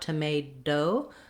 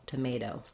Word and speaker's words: tomato: So this T is going to sound more like a D, tomato, tomato. So it's going to be what's called a flap T, and my voice should be on. My tongue goes up to the T position, but I just lightly tap up there and come back down. So not a strong D, not tomado, but tomato, tomato.